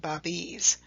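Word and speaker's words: Bábí: followers who were called babies you see the pronunciation guide there again pronounced bobby's the singular noun is babi ultimately the shah and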